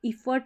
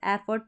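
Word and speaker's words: effort: हैं ना, continuous, एफर्ट, इसको इफर्ट नहीं पढ़ेंगे, एफर्ट पढ़ेंगे, मेहनत, यानी कि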